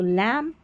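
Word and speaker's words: lamb: उच्चारण ब होता है, नहीं, बी यहाँ पर साइलेंट है, एम और बी में बी साइलेंट है, सिर्फ एम का ही उच्चारण हो रहा है, वो भी म। तो लैम, बॉम, थम, कॉम, तो यहाँ पर बी को भूल जाए, बी का उच्चारण नहीं करना है।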